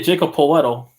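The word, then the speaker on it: Jakob Pöltl: you mean the center on the spurs yeah jacob poletto that's how you pronounce his name charles barkley when when i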